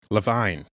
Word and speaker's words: Levine: came up because Josh Levine was asking about his blind spot and Levine. Sorry, yes. That's how you say his name? Yeah. Oh no. I have said it wrong so many times.